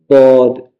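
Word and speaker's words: ض: La lettre D, elle a trois manières de prononcer. Soit tu dis comme ça de manière naturelle, soit tu courbes un peu la langue vers la droite ou bien tu la courbes un peu vers la gauche.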